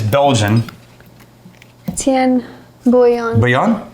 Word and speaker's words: Bouillon: Bouillon? Yeah, I think 2 L's makes that. Y sound?